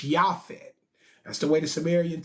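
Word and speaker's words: Japheth: was shim ham and jafet but as I have taught y'all in this class there was no letter J before 1524 so the correct pronunciation of his son's name is yafet that's the way the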